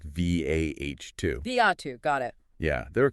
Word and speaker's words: Viatu: That's pronounced V-A-H-2. Viatu, got it.